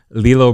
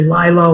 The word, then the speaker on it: Lillo: the way is it it's lilo not lillo right yeah no you said it right okay i was surprised because a lot of people say lila or lillo right it's lilo i want to make